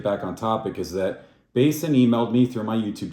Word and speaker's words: BASN: by the way um Basin is how you pronounce it not Bassin um it is an